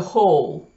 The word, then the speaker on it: whole: вернемся через минутку а там w не произносится произносится только each hole они вау как можно было бы предположить как white в мол нет читается холл и когда-то исторически там